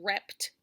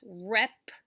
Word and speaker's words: reptile: So it's not going to be rept, it's reptile. So I pulled it down for you. Look in the syllable cards here. We have R-E-P, I put on one side, and then T-I-L-E go together because that E is silent.